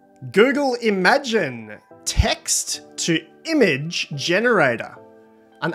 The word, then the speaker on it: Imagen: out of sushi google imagine i bet some people are pronouncing it imogen maybe including the researchers themselves it's a two billion